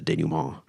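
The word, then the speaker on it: dénouement: And Nestor foretells the denouement. The denouement? Yeah. Yeah. It's a French word that I think, well, Rhyme Zone says it rhymes with Agamemnon.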